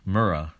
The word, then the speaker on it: Murrah: the alfred p murr murrah building it's spelled at the top here m-u-r-r-a notice that that just the the last name of that building is a direct match to murder okay 79 34 83 and 38.